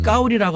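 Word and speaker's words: 高麗: 발음을 까오리라고 하는데 나는 까오리 고려라는 이름을 갖고 있어.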